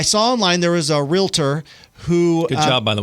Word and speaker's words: Realtor: online there was a realtor who good job by the way thank you not it's not realator or real T it's real tor right real tour Round of Applause there